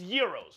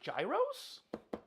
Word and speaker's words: gyros: Wait, is it It's euros, right? People actually pronounce it gyros. I mean, it actually kind of reads gyros, right?